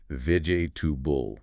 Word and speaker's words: vegetable: Lazy speakers, efficient speakers, the correct way collapses that middle section right down. It becomes vigb. So it sounds more like vig tubul.